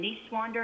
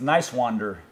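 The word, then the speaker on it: Niswander: of his last name niece wander and this wonder i think it's nice wander like uh like okay yeah nice nice guy okay nice guy yeah i i think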